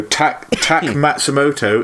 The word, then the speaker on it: Tak Matsumoto: So Tak Matsumoto is spelled exactly how it sounds like it's spelled.